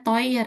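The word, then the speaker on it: teuer: Eh koreksi dikit aja ini bacanya toyer ya Rik toer. Toyer. Iya. Eu baca oi.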